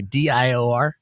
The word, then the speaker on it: Dior: How about TR or how do you say DIOR?